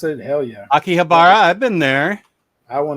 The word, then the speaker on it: Akihabara: going to all the anime shops and stuff akiba hada or however you pronounce it hell yeah akihabara i've been there i want to go there